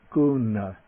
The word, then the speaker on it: guṇa: meaning virtue is quality the end in the middle of this word kuna that's the retroflex n the end in the